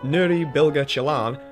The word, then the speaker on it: Nuri Bilge Ceylan: but this is how I've been told it's pronounced. Nuri Bilge Ceylan has crafted what I would think was the exact film that he wanted to create.